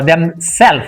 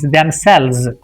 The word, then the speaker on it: themselves: Now I would like to just talk about uh the pronunciation. So myself themselves. It is not self uh themsel. It is themselves.